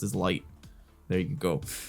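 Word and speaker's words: 月: He's like, it's written with the character of Moon and something else, and it's pronounced as Light.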